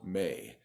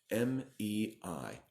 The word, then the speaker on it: Mei: name, 1 syllable for its genus name, 1 syllable for its species name. So it's a great animal. It is called MEI. M-E-I, MEI, MEI long.